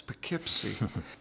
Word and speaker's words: Poughkeepsie: Phonetically, Poughkeepsie spelled in one of the Whaleman's Journal, P-A-K-I-P-S-Y. And I'm looking at it and saying, oh, that's Poughkeepsie.